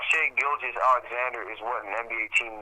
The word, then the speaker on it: Shai Gilgeous-Alexander: See, I'm not even pronouncing his first name right. Oh my God, his name is just giving me aneurysm. Shai Gilgeous-Alexander.